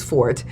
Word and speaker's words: forte: use that word because the correct pronunciation of that word is for it and you only use forte when you're talking about music and a lot of